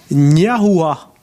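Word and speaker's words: Gnahoua: Jusque-là, non, mais c'est quand même assez facile à prononcer. C'est Ouais, la deuxième, c'est Valentin Niahua.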